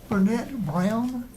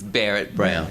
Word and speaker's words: Barrett Brown: Burnett Brown, am I pronouncing that correctly? Not quite, but that's close enough. Correct, please correct me. It's Barrett Brown.